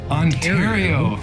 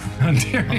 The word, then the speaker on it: Ontario: I always mispronounce Ontario. Ontario. Ontario. I keep saying Ontario because in California we have an Ontario and that's how they say it over there. I'm sorry. Ontario.